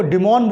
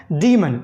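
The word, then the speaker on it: demon: राक्षस के लिए तो बोलते हैं धीमन आपके स्पेलिंग एक अच्छा लगेगा इसको डिमोन बोया कुछ और बोलें बट इसका Tubelight pronunciation and guided human क्या है धीमन नेक्स्ट वर्ड है अब डे मनाया गया तो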